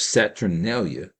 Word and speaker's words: Saturnalia: One of Rome's major pagan festivals, the Feast of Saturnalia, that's spelled like Saturn and Alia at the end, Saturnalia, was held on December 25th around the winter solstice.